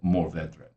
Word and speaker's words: Mourvèdre: of the time and the officially accepted name is morvedre that is the spanish sorry the french pronunciation of the originally spanish grape the spanish go by